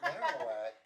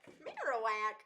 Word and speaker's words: Marowak: Marowak. Marowak. Oh, I said Marowak. My bad. I can't pronounce shit. Because it's marrow, because it's bone.